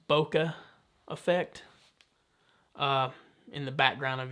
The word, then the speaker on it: bokeh: And you know, it's better for, I believe, for portrait shooting, and you can get the I believe it's pronounced bokeh effect in the background of your images.